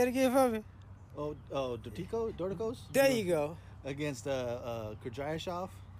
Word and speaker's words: Dorticos: My number 1, I still can't pronounce the name. Say it again for me. Dorticos?